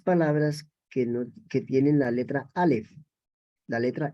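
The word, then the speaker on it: אָלֶף: Y cuando pronunciamos Aleph, estamos hablando de lo literal.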